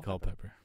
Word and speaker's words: Culpepper: pepper colpepper it's Dante Culpepper you didn't say it ain't any different than most people say Dante Culpepper saying call pepper cold pepper Cole like Michael Cole that Cole pepper I don't think it's